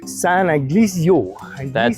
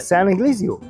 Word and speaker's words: Ignacio: San Ignacio. Hey, it was close. San Ignacio. That's still not right. How do you say it? Try it one more time. You got it. San Ignacio.